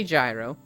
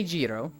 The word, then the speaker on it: gyro: sandwich EO which apparently if you look up how to pronounce it every dictionary gives you a different answer some say gyro some say Jiro some say yo no rhyme no reason